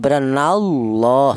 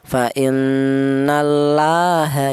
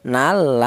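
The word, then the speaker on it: فإن الله: sini ada lafaz Allah di mana lafaz Allah ini didahului huruf yang berharakat fathah ini dibaca tafhim ya apa artinya nya tafhim. Tafhim itu artinya tebal ya jadi nallah seperti itu. Tidak boleh dibaca tarkik. Apa artinya tarkik? Tarkik itu artinya tipis. Seperti contoh fainnallaha ya nal tidak boleh. Karena apa? Dibaca tafhim harusnya.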